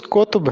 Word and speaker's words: قطب: میں 76 کردار ہیں۔ یہ درست تلفظ قطب ہے، کتب نہیں ہے۔ عبداللہ قطب شاہ، کلی